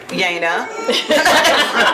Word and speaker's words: Jana: I thought it was French, but it's actually German. It's pronounced Yana.